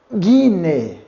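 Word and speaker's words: γυνή: Não confunda com a letra U, hein? Guiné.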